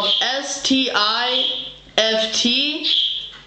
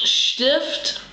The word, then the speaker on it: Stift: pen in German is s t i f t pronounce Stift makes the SH sound Stift en cake cake